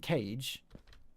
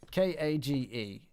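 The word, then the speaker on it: Kage: I said I tell him the name isn't cage it's pronounced car ji ka GE and they're pronouncing it car G I so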